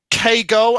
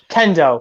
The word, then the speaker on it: Kendo: war arc i would definitely save yeah now kay go uh is that how you pronounce her name um kendo kendo sorry sorry uh kendo um big fist